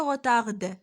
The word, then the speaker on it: retard: On ne se prononce pas le D, on ne dit pas le retard, non, le retard. Donc ici, le D aussi, c'est une lettre muette, c'est une consonne muette.